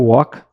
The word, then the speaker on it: walk: Então, peguei o verbo walk, falávamos na atividade, na primeira atividade de palavras que tem consoantes muda. Esse é um caso, o L tá mudo aqui, ó, walk.